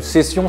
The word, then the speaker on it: session: Alors, le style session ou session si on prononce à la française, c'est un style qui fait partie de la grande famille des ail pieds.